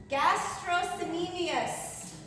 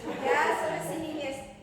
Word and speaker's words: gastrocnemius: Gastrocnemius. Spell that in Scrabble. Gastrocnemius.